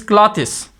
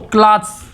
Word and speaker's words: cloths: It should not be pronounced as clothes. Most of the people pronounce it as a clothes, but it's completely wrong. The first thing is that we will skip, the E is here silent, and the S will pronounce the sound like Z. So cloths, cloths. So these are the words we have discussed.